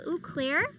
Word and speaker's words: Auclair: So I post daily on Twitter and OnlyFans at Uclair, AUCLAIR. Yeah, you gotta spell that. These niggas Eclair, like the donut. No, it's French, nigga.